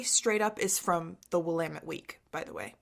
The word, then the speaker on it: Willamette: Oh my gosh, you pronounced Willamette correctly.